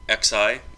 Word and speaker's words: xi: boolean true and uh xi which is pronounced she is knowledge so this